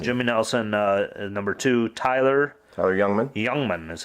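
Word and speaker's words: Jungmann: Number two, Tyler Youngman is how you say that.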